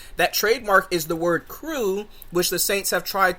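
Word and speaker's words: krewe: campaign during that time the word that we use crew is spelled k-r-e-w-e so that is what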